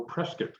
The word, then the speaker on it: Prescott: And he posted a picture of the downtown district of Prescott, or Prescott, as they pronounce it.